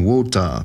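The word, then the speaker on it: ウォーター: Saint Warcury's first name, Wu, may also come from Wota, the Japanese pronunciation of water.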